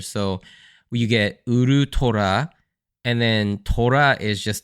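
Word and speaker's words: ウルトラ: and tiger together, because the last half of ultra in a Japanese accent contains the word for tiger. So you get Urutora, and then Tora is just tiger, and ultra is Urutora.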